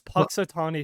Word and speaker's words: Punxsutawney: like how do you say that it's it's Paton Phil okay Paton Phil Right yeah he has